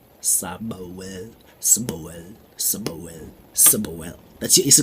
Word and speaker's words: Sbwl: a person um can also be pronounced the trendy version uh you just remove all the vowels sabawell sabawell simoel summerwell superwell that's